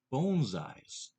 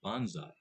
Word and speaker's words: bonsai: it that way because actual pronunciation of these are bones eyes not a bonsai but as we go